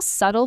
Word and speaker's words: subtle: The keywords here are subtle and refined. Let me spell subtle for our listeners because the pronunciation can be tricky. S U B T L E. The B is silent.